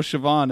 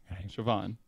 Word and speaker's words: Siobhan: no sioban oan Chan there's no h in there sioban Chan that's how Siobhan is spelled in Gaelic oh well I okay I don't know gay s i o b h n Siobhan Shan sioban shoban any obviously Irish obviously Irish son Sono chemist